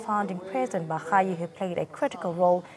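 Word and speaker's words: Barayi: Currently, Well, we do know that he started off by correcting us all and many others with the pronunciation of Mr. Elijah as Elijah Bahayi and not Barai.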